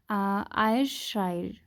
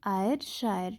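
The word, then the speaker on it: Ayrshire: है India, that is आयरशायर, ठीक है ना। वी कैन प्रोनाउंस इट किसी भी तरीके से, ठीक है ना। AY आयर, SHIRE शायर, ठीक है ना।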